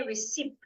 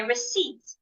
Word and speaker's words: receipt: Don't say receipt. The P should not be heard. Say receipt.